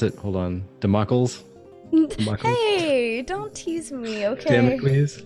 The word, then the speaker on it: Damocles: How is it you pronounce it? Hold on, Democles. Hey, don't tease me, okay? Damocles says.